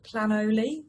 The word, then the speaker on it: Planoly: And just on the question of which app that I use for post planning, it's called Planoly. It's spelled plan and then OLY.